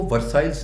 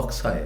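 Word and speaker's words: Versailles: मुझे समझ आई कि वो वर्साइल्स नहीं है। वो वक्स आया है। ठीक है? आर को ख के मानू में दिया जाता है फ्रेंच वर्ड में और आखरी वर्ड आपका प्रोनाउंस नहीं होता।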